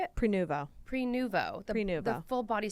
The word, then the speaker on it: Prenuvo: So, Kottie did Pernova. How do you say it? Prenuvo.